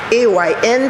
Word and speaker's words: Ayn: name was ayn rand a y n pronounced ayn randa a writer and